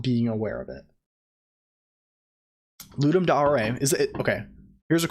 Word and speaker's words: Ludum Dare: When I was young, I said Ludum Dare, but someone who is like Latin affiliated was like, oh, it's Ludum Dare. It's pronounced Ludum Dare.